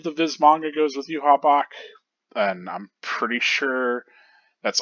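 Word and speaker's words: Yhwach: It's Yuha Bach, I guess.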